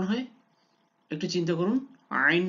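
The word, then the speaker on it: عين: হ্যাঁ, এটা হলো আইন হা, আইন হা। এবার বলুন তো এটা কোথেকে উচ্চারণ হয়, একটু চিন্তা করুন। আইন হা, আইন হা, জি। এটা কণ্ঠনালীর মধ্যভাগ থেকে উচ্চারণ হয়, কণ্ঠনালীর মধ্যভাগ থেকে আইন হা, আইন।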